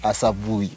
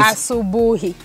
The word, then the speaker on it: asubuhi: Asabuhi. Okay. Asubuhi.